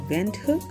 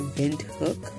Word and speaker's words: Windhoek: Some people pronounce it as Windhoek. If you are of the Dutch or German origin, you will say Windhoek. But as English speakers and everybody else, we just prefer to say Windhoek, like wind and hook.